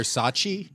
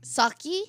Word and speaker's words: Socci: And we have a Blair Saki. Blair Sachi. Saki.